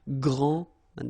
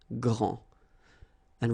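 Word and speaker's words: grande: final s okay so gr and then same thing here gr and regarding the feminine form you will pronounce it Grand okay don't insist on the final but then pronounce this D Grand and then exactly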